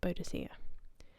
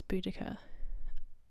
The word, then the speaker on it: Boudicca: her time in history it's tacitus's spelling of her name that causes the different pronunciations of Boudicca or bodhisia most academics agree that it's Boudicca as podocia was a misreading or a typo of a previous Latin text translation and possibly like